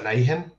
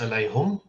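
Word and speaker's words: عليهم: the word upon them in most reading traditions that's pronounced as alaihim but in one reading it's pronounced alaijum and in another one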